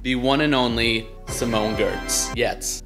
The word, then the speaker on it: Giertz: one and only simone gertz yet i think a lot of people end up saying gerts but i'm pretty sure you're supposed to pronounce it yet but you know who